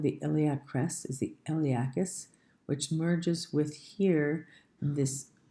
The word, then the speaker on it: iliacus: The P is silent. It's made of 2 muscles, the iliacus and the psoas major.